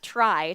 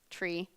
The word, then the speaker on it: trie: so TR ie is often pronounced try to distinguish it from TR EE tree but it could also be pronounced tree because it comes from the word retrieval so a try TR